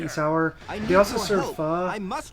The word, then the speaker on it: pho: pho, or however you want to pronounce it. should have brought your allies with you. I just know some folks call it foe, so you know I want to make sure that they knew what I was talking about. But that's the way I've been told it's pronounced.